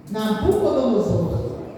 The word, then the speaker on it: Nabucodonosor: E a Bíblia, ela fala que esse rei, ele tem até um nome bem difícil de pronunciar. O nome desse rei chama Nabucozor. Fala comigo. Nabucodonosor.